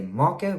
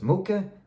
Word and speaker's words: mocha: in the morning my favorite drink is a maca which some people pronounce as mocha you're wrong if you do just to let